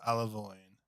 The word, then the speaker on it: Alavoine: So, thanks to power of Google, I've Googled how to pronounce Luke's last name, and I believe it is Alavoine. Oh, like aloe vera, but kind of cooler.